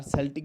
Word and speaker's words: Celtic: and then there came Celtic people were there, or Celtic you can also pronounce it.